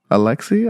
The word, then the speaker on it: ALYX: How do you pronounce it? Alexi, a lot.